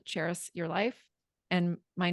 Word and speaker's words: Charis: It's spelled and pronounced like the city Paris to help everyone understand, but with a Charis.